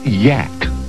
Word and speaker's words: Yak: original Yak actually the creature's name is pronounced Yak well I'd love to